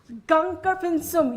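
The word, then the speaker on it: Gangkar Puensum: Gangkar Pinsum. You have perfect pronunciation there.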